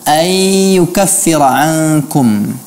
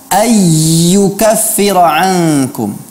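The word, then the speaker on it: أَنْ يُكَفِّرَ عَنْكُمْ: tekankan di sini, bahwa pada pelafalan ayyukaffira ankum, di sini yang Ustaz perhatikan adalah Maimunah membacanya dengan menebalkan huruf ya tanpa memberikan gunnah. Padahal di sana ada nun sukun yang diikuti dengan huruf ya. Ini mewajibkan adanya gunnah, namanya idgham bi gunnah. Seharusnya dibaca ayyukaffira ankum, bukan ayyukaffira ankum, bukan ayyukaffira ankum.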